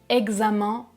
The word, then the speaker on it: examens: 2 petites d'exception et parfois EN se prononce un comme dans le mot examens ou moyen par exemple ce sont des exceptions